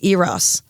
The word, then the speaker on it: Eros: infactuation start of the relationship and and it's OS nice you said it right I did and